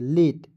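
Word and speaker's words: late: पढ़िए उसके बाद देखिए यहां पे एल ए टी ई क्या पढ़ेंगे तो एल का ल लिख देंगे और टी का ट लिख देंगे अंतिम में क्या है ई है तो एक एक लिए लगाएंगे लेट एल ए टी ई लेट ठीक है अब देखिए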